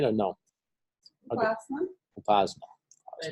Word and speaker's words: Upasana: So your name is pronounced Upasana, right? Is that right or no? Okay. Upasana, Upasana.